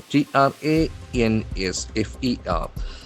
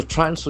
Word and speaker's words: transfer: Transfer. Transfer. The accent falls on the first syllable.